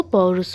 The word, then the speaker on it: पौरुष: जाएगा पौरुष हो जाएगा यहां पर दंती सा के स्थान पर हमारा जो मुर्धन सा है ये सही रहेगा ठीक है अगर हम जो हमारा दंती सा है ये क्या है गलत है क्योंकि उच्चारण की दृष्टि से हमारा गलत हो जाएगा पौरुष का तो पौरुष का जो शुद्ध रूप होगा वो पौरुष हो जाएगा पौरुष ठीक है मब